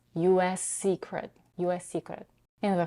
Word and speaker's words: U.S.: But in some cases, when the U.S. is used as an adjective, and when the primary stress of the next word is on the first syllable, the stress pattern can be reversed.